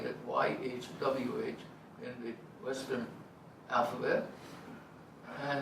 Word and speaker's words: YHWH: So if you're willing to disobey my grandmother and 2,000 years worth of rabbis, try pronouncing YHWH with no vowels. It's not Yahweh. It's not Yehovah. No vowels.